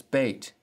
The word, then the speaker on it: Beit: Next is Beit, and it sounds like the B as in boy.